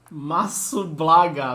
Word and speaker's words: Masublaga: Masublaga, meu Deus, esse é o nick dele. São 4 sílabas, né? Sim, Masublaga.